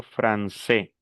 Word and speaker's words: français: Francé, por ejemplo, vemos la palabra, yo digo fran que es como una s, luego tengo a i que se pronuncia e y la s final que no se pronuncia. Entonces yo digo francés.